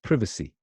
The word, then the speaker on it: privacy: Oh No okay so then you got this privacy privacy okay that's the British pronunciation crevice II it has